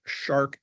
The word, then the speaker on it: SHARC: is Lynn Mueller CEO of Vancouver British columbia-based shark energy shark is spelled s-h-a-r-c shark energy is a Pioneer in